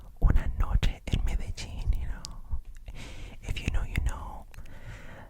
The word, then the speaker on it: Medellín: So it is not Medellin, okay. Okay, back to the travel vloggers that I've been listening to. Guys, I almost fainted when this American couple said they went to Medellin. What? Medellín. This, this accent here, so the stress is there.